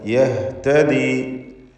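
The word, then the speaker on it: يَهْتَدِي: യഹ്തദി, ഇഹ്തദ, യഹ്തദി, ഹ വ്യക്തമാക്കി ഉച്ചരിക്കണം.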